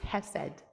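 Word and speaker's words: חֶסֶד: at drawing it um it's spelled chessed but it's pronounced hessed and it means loving kindness I don't know where this so Ruth offers an understanding of the Torah um so H said loving kindness means to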